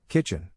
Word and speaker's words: kitchen: In this case, the accent is in the first syllable, corresponding to kitch.